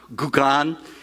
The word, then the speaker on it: Gauguin: this French painter named Paul, I think it's pronounced Gauguin.